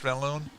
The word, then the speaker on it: Van Loon: It is Josh Vanaloon.